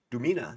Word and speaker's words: Dumina: We're gonna take the lore of Dumina, sorry, that's the correct pronunciation, and we're gonna apply Pathfinder 2nd Edition settlement stat block to this lore, or vice versa.